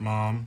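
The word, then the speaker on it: Maugham: slim this summer set after somerset mom if it's not spelled mom m-a-a-m it's actually spelled and how do you spell it m-a-u-g-h-a-m but anyway two card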